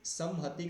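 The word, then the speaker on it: संहति: तो समहति का जब उच्चारण करेंगे तो कैसे करेंगे, समहति, थोड़ा सा झंकृत करते हुए, समहति ऐसे, ठीक है।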